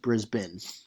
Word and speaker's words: Brisbane: So he'll say, "All right, Brisbane is spelt Brisbane, but it's pronounced Brisbane."